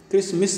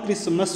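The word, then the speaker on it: Christmas: पश्चात आ जाता है क्रिसमस किसमिस नहीं होता क्रिसमस होता है ध्यान रखना इसीलिए उसने बचाने के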